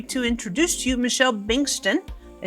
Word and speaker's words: Bengtson: And I'm happy to introduce to you Michelle Bengtson. Did I say that right? Close Bengtson. enough. It's B-A-N-G, but it's spelled B-E-N-G.